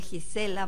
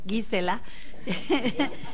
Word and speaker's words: Gisela: Doy ahora inmediatamente la palabra a la doctora Olvet Hansberg, que a mí me enseñó que no se dice Gisela, muy a lo Jimena, sino Gisela.